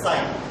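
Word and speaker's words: psi: constant is साइ okay it is pronounced as साइ हा चाई कह सकते हैं ये जो स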